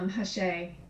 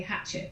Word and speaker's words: Hachette: I think you pronounce it Hachette. I would say Hatchet, but that doesn't sound right. Well, I call it Hachette, but Hachette. Well, okay, that sounds good. It's a double T-E ending, so it wouldn't be Hachette, which should just be E-T, but that's me being phonetically French.